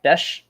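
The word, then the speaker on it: Bech: So his last name is pronounced Besh.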